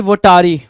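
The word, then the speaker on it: votary: वोटारी क्या होता है सर, या फिर कुछ लोग इसको वोटारी पढ़ेंगे, कुछ वोटेरी पढ़ेंगे, तो it depends up टू यू कि क्या प्रोनाउंसिएशन निकाल के ला रहे हो। वोटेरी भी ठीक है, वोटारी भी ठीक है।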